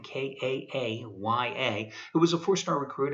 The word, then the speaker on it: Kaaya: But again, going with a freshman quarterback, Brad Kaaya, I think that's how you pronounce his name, Kaaya, who was a 4-star recruit out of a California high school.